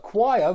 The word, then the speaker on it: choir: something like that but choir rhymes with fire so you need to